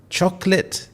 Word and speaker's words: chocolate: If you said chocolate, then you got it correct. There are two syllables and you don't say chocolate.